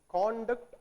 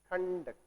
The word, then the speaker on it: conduct: So, it is conduct and conduct. It is pronounced as conduct when it is used as noun. It is pronounced as conduct when it is used as verb.